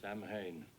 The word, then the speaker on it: Samhain: In Halloween 2, Michael writes the word Samhain on the board at the school, even though Loomis pronounces it wrong. Samhain.